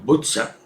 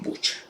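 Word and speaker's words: Буча: Quizás hayan visto las imágenes de esta ciudad que en castellano le dicen Bucha, pero que en realidad se pronuncia Butza, pero que nosotros vamos a pronunciar castellanamente como Bucha.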